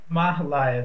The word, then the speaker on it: Mahalaya: actually okay mahalaya okay mahalaya is the actual correct pronunciation of it and really what